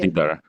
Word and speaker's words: LiDAR: So yeah, I How guess how the do you ones actually used in pronounce it? LiDAR, LiDAR, it's LiDAR.